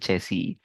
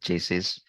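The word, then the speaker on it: chassis: evenly we use components called chessi and this is the chessi c h a s i s that's the spelling but um I mean when you know the spelling and you will read it I call it chases but um but the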